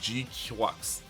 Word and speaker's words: GQuuuuuuX: how are you feeling kind of nonsense and they end up sorting the GUX and that is how it's pronounced.